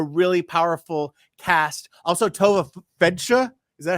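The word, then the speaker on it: Feldshuh: Also, Tova Fedsha, is that how you say her name? The fabulous Broadway artist. Oh, Tova. It's a fabulous name, right? Yes, it's Fedsha.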